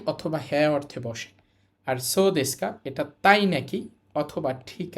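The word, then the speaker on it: そうですか: মাছ তারপর আছে দেখেন সদেসকা স উচ্চারণ হবে না ও এর পরে উ থাকলে উচ্চারণ হয় না এরপর আছেকা সদেসকা সদেসকা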